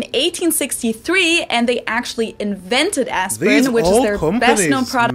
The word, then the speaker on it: Aspirin: about is the painkiller aspirin. Now that was the English pronunciation, aspirin. But the correct German pronunciation would actually be Bayer, and the medicine is called Aspirin in German. Aspirin.